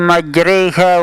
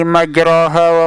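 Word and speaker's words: مجراها: Kemudian juga kita dengar di saat membaca Al-Quran, Bismillahi majriha wa mursaha, itu sebenarnya bacaan yang tepat. Namun kita dengar ada yang membacanya Bismillahi majraha wa mursaha, ada yang membacanya Bismillahi majraiha wa mursaha, ada juga yang membacanya Bismillahi majriha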